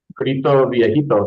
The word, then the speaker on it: Grito Viejito: How do I pronounce that? It's Gito Vipo.